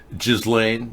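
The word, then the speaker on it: Ghislaine: 25 days ago allegedly and it's still growing jizz Lane yes that's correct pronunciation happy hour it's called galane the the S and the the J are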